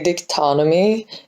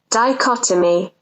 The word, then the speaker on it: dichotomy: that in this video i say dictonamy instead of dichotomy which is apparently how you say it i don't have